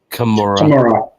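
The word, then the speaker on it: Commorragh: So this is spiderweb dream, and it's referring to Comorag. Yeah, how do you pronounce that? Comora. Yeah. The G isn't pronounced, so it's just Comora.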